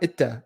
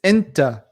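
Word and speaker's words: أنت: No, it's not Itta. It's Inta. Inta Poo-poo. So you wanted to put an in before the two T's, because you in Arabic is Inta, not Itta. So Inta Poo-poo.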